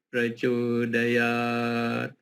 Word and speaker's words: Prachodayat: Praco, kenapa di O-nya panjang? Bukan Prachodayat. Kok tidak di pra-nya panjang? Nah, itu karena aturannya begitu.